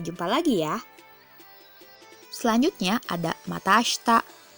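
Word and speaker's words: また明日: lagi ya selanjutnya ada mata Asta untuk pengucapannya ASI Tak Disini dibaca ashta Iya itu dihilangkan ya ya di mata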